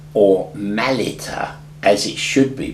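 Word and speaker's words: Mylitta: still spoken in Aramaic in the service now my liter or Malita as it should be pronounced was not the name but an Italian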